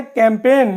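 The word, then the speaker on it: campaign: गया इसी तरीके से कैंपेन मिंस अभियान कैंपेन में एन से पहले जी आया है तो यहां भी जी साइलेंट हो गया इसी तरह से देखें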